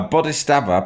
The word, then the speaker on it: Bodhisattva: A Bodhisattva, pronounced Bodhisattva, is a compassionate person.